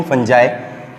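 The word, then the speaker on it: Fungi: इसे फंजाई भी कहते हैं, फंगी भी कहते हैं, डिफरेंट, लेकिन इसकी जो सही प्रोनाउंसिएशन है वो किंगडम फंजाई है, ठीक है बच्चे।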